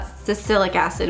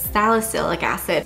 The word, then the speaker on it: salicylic acid: now pronounced it right it's not Susilo cassadee which I said in the first video it's salicylic acid thank you to everyone